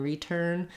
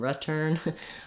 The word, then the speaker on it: return: r U vowels and for a lot of people in words like behind and return if they try to do the I vowel they might end up sounding a little too tense and they might sound like behind and return it's better to go in the direction of behind and return um rather than getting too tense so when we look